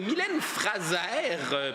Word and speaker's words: Mylène Fraser: Productrice Mylène Fraser, prononcée à la française bien sûr.